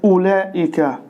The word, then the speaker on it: أولئك: وكذلك كلمة أولئك سنلاحظ أن الواو لا تلفظ، لذلك ستحذف من الكتابة، وهنا ألف مزيدة أولئك تكتب بهذه الطريقة أولئك.